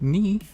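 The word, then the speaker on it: に: okay nah and then we have knee like needle knee pulling some thread and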